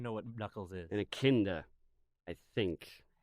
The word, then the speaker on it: echidna: An echidna, I think. It starts with an E. It's pronounced like itch.